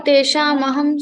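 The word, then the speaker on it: तेषामहम्: Teshamaham is pronounced? Yeah, Teshamaham Samuddharta.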